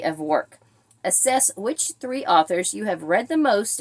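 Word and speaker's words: oeuvre: right prop number two I hope I can pronounce author or voir I believe it's how you said how you say that o e u v r e which is an author's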